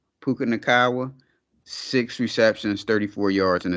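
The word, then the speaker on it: Nacua: receptions 95 yards puka uh how do you pronounce his last name naawa puka naawa six ceptions 34 yards and a touchdown uh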